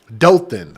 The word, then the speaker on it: Dothan: Dothan.